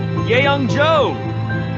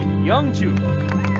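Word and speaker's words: Yeongju: The MVP award goes to Yeongjo. It's actually Youngju.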